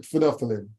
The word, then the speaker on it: phenolphthalein: phenolphthalein yes I can I appreciate you might have some difficulty pronouncing that but we call it phenolphthalein okay and I'm very